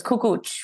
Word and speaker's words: Kukucs: It's Kukucs with a little bit of a ch at the end.